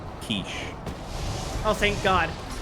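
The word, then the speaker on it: quiche: Kiche. Oh, thank God. Or if you want to piss off everyone at the dinner party, Quitchy. That sounds like it rhymes with squishy.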